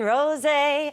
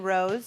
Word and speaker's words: rosé: Chris Kattan, who would not mock me for saying Rose. Would never do that. That's Not why in I'm those so deals. starstruck. That's how I pronounce it. Chris, what would be the Pronounced rosé.